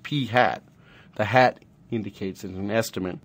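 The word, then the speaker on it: p̂: hat on top and it's actually pronounced P hat the hat indicates an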